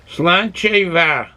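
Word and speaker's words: Sláinte mhaith: Pronouncing it as, Slancheva.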